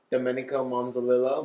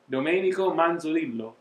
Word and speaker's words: Domenico Manzolillo: Cool Sex with special guest Domenico Monzolillo. Nope. No? Said it wrong? No, yep. You said it. Say it. Domenico Manzolillo.